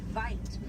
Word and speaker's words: wit: Original word for white rhino was vite. Vite means wide in apricot, but over time it was misheard and mispronounced and it turned into the white rhino.